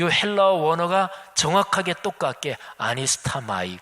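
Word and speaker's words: ἀνίσταμαι: 근데 여기에 바로 이 단어, 일어나, 이 단어가 헬라어로 발음하면 아니스타마이, 헬라어 원형으로 제가 발음했는데요.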